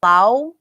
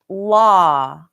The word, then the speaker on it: law: So I hear Indonesians say this word like lau. And I'm sorry if I'm mispronouncing the mispronunciation, but it's not lau. It's law.